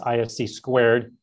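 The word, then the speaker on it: (ISC)²: professional organization i'm a member of which is pronounced ifc squared they have for parents youth and seniors these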